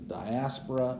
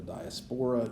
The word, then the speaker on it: diaspora: to the exodus to the diaspora or the diaspora you'll hear both pronunciations the spanish inquisition and